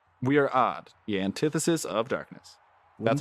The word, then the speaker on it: AOD: We are odd, the antithesis of darkness. Wouldn't That's our that guild be- leader right wouldn't there. that be AOD? No, it's odd. AOD. Like, No, it's odd. Like a odd.